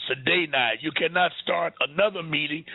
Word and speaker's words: sine die: And then they lied and said that that date created what they called Sine Die. Most of y'all probably never heard of Sine Die.